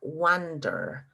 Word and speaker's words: wander: And the pronunciation is different too, because it's wonder and the other one is wander with an A.